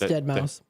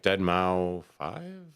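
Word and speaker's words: deadmau5: If I see that I'm like dead mau five. Wow. That's how I used to pronounce it.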